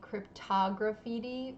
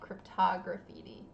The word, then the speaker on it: cryptograffiti: So yeah, so it's 5 syllables. It doesn't roll off the tongue, and you're not alone.